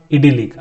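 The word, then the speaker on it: idyllic: इसका प्रोनाउंसिएशन होगा इडिलिक।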